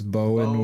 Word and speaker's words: Bowen: Just gotta pronounce it with 2 O's, so it's Bowen Wilson.